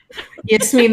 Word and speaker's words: Yasmine: That's also a very authentic pronunciation of my name, too. Yasmine, that sounds so Arabic. You sound like my mom. I actually mispronounced my own name as Yasmin. Rhymes with Jasmine.